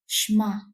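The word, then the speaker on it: שְׁמַע: terms means to hear the Hebrew word pronunciation sounds more like shma but it also means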